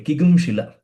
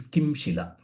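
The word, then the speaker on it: किंशिल: Okay, Kigum Shila. Even though the pronunciation is Kigum Shila, the actual word is Kim Shila. Kim Shila is the actual word. While pronouncing it becomes Kigum Shila.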